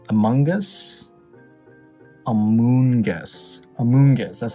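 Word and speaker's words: Amoonguss: We got a Mungus. Amungus? Amoongus. Amoongus, that's how you pronounce them.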